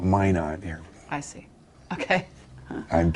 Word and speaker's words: Minot: It's Minot. Yeah, Minot, North Dakota. That's the French pronunciation. Yeah. We Americans call it Minot here.